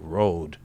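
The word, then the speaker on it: rood: the dream of the rude and rude it's spelled r o d uh it means cross in Old English it's spelled r o d with a long o Road uh if you go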